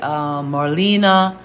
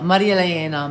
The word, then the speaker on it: Marilena: So yeah, I say Marilena, but Jamaica they say Marlena, Marilena, Marilana. I like Marilana also because it rhymes with marijuana. So, but officially it's Marilena, Marilena.